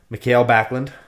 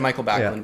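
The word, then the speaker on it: Mikael Backlund: He's Swedish, so I just assume it's pronounced differently. I've only ever heard it said Michael Backlund, but anyway.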